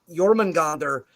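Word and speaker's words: Jörmungandr: it's a double e it's the same with iorman gander yorman gander is a double e sound in the beginning so this is where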